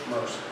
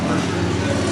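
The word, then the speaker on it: Mercier: As a matter of fact, I think I ran a search on George Mercer, and it's spelled M-E-R-C-I-E-R, George Mercer.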